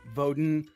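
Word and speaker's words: Woden: I get I get voden right so like V or or or like actually it's w pronounced as a v w o d i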